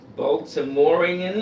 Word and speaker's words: Baltimorean: As his bio comes up, I know that he is how you pronounce it? Baltimorean. Baltimorean. Baltimorean, Yes. absolutely. He's a product of the Baltimore public and private school system.